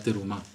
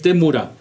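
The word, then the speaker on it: תמורה: lo que se llama la terumá terumá o temura la permutación Cómo se dice temur temura temura temura Perdón es temura que es la permutación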